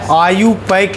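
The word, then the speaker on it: IUPAC: जैसे आगे नोमेनक्लेचर में आपको पढ़ना है आईयूपक नेम। क्या पढ़ना है? आईयूपक लिखते हैं आईयूपीएसी उच्चारण करते हैं आईयूपक नेम।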